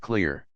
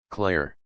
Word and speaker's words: Claire: "Claire," she said, letting it out gently like she was blowing dust off a butterfly. "Not clear. Claire."